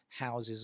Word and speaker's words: house: And if you have a laptop, it also houses a screen, I guess. Okay, so that's to house as a verb. Notice the pronunciation with a Z sound as opposed to house, which is the noun form.